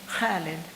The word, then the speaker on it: Khalid: not name my son Khalid because Americans couldn't pronounce it. Now I wonder about such wisdom. Even my 8-year-old could constrict her throat muscles the right way to say Khalid, immortal like an ancient